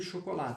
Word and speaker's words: chocolat: Aí, Marvel, ele tira só o E do chocolate, tá bom? Porque esse esse substantivo ele é masculino. Então, ó, chocolat, lá. Eu termino no lá, não pronuncio o T.